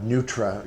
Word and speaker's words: Neutra: And so it's funny when we hear people will ask us, you know, and they'll mispronounce the name Nitra, Neutra, you know, I want to buy a Nutra or a Schindler, and